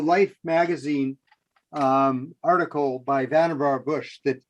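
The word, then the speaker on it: Vannevar: yeah this is um the life magazine um article by vanderbar bush that it's pronounced ben nevar by the way okay yeah and i think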